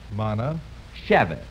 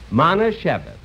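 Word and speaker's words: Manischewitz: Now, let's break it up into syllables and work on it. Okay. Now, look. Repeat after me. Mana. Mana. Shevitz. Shevitz. Mana Shevitz.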